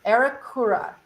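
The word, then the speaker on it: Aeracura: familiar with her it's a e r a c u r a arakura is how you pronounce it so welcome in this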